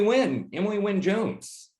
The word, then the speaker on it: Wynne-Jones: Wynne-Jones.